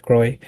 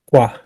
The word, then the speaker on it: Croix: And then yung, it's actually I think for the Americans, they pronounce it Croy. Although it's a French word, croix.